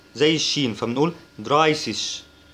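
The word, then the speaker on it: dreißig: لاحظ إن هنا في A E وده بيتنطق I، لسه شرحينها أهو. والحرف اللي بعده ده كأنه دبل S بالظبط، ده اسمه استت يعني زي الدبل اس كده بالظبط، تمام؟ فبننطق الكلمه دي دراي سيش، دراي سيش.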